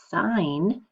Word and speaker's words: sign: smaller chunk out so sign by itself we don't hear that silent G but in the word signature you do hear that s that G it's no longer silent it's sounded so it goes